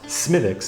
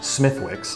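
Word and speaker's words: Smithwick's: have semitics smithics and yes it's pronounced smiviks not smithwicks it was founded in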